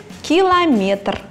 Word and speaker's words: километр: в любой речевой ситуации единственно допустимым вариантом постановки ударения будет километр интересный факт крупнейший металлург